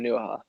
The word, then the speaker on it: Onuoha: Is that how you pronounce it? Onuoha? Yeah, Onuoha.